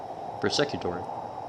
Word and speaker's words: persecutory: Here I wish to explain the patient suffers from delusional disorder, among other delusions of influence, possession, or persecutor. Persecutory. Sure, that's how you say it.